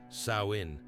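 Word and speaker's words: Samhain: They called this night Samhine, pronounced sain, meaning summer's end.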